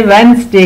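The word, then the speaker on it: Wednesday: पे एंड होता है, इसमें डी साइलेंट है, उसकी आवाज नहीं आती, वेंसडे।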